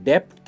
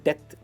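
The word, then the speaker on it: debt: इन डेथ इसकी pronunciation डेप्थ नहीं है, हम डेथ कहते हैं, डेथ एंड नॉट डेप्थ, जिसका मतलब होता है कर्जे में होना या फिर किसी का आभारी होना, आभार व्यक्त करना.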